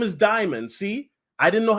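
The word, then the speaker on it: Dimon: Dimian, okay, now I'm probably butchering his name and I apologize. Dimian or Dimian's comments came on the No, Solo. His name is Diamond.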